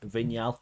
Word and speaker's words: Vignal: I'm joined by Gregory vigal I'll do the I'll do the French pronunciation for you thank you very much